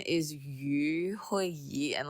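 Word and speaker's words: 余: So yu actually means remainder. Okay, it's surplus. So like it means like you always have more than enough. So that's what it says. But yu phonetically sounds like fish.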